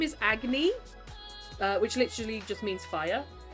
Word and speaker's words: Agni: and he grows fangs, he can't pronounce Agni's name because of his new fangs, so he calls her Aggie, which she hates.